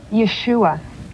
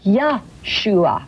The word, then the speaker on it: Yeshua: It says, the Messiah has come and his name is, how do you pronounce it? Yeshua. Yeshua. Correct. Or forgive me, I said Yeshua. Yeshua.